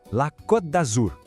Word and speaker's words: Côte d'Azur: A pronúncia correta é La Côte d'Azur. Vamos por partes. A palavra côte, com esse acento, tem um som de O bem fechadinho, sabe? Côte. Já em Azur, o segredo está no U francês.